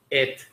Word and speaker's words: it: Thì về bring it up. Bring in ngắn, ok. Bring ngờ, giống như ngờ trong tiếng Việt, ok. It, đừng nói là eat nhé.